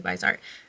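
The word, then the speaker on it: Viseart: I think it's pronounced Vizart, but I also hear people say Visart.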